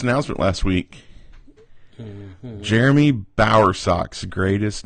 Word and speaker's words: Bowersock: Jeremy Bowersock's greatest name on the planet. Am I pronouncing that correctly, Jeremy?